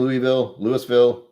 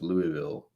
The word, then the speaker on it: Louisville: Do I keep saying Louisville? I've been calling it Louisville because that's how I read it, and everyone keeps telling me every time I say it, it's Louisville.